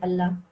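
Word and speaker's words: الله: And if it's preceded by a kasra, then we just say it normally, not in a thick way. We just say Allah.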